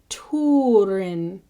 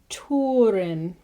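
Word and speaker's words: Túrin: be pronounced oo, like Turin. So you always want that oo sound. Tuna is tuna. So it's just as you would say tuna, tuna, Huron, Turin, Tur.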